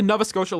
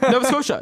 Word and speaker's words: Nova Scotia: with the maritime line I'm going with the Nova scoa line here I'm going mckinn and Crosby marshand Crosby wait AE how did you just pronounce that did you say Nova Scotia Nova Scotia yeah it's Nova Scotia NOA it's Nova Scotia